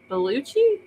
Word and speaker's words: Belushi: in the morning J you did a good job beluchi it's not beluch I don't know what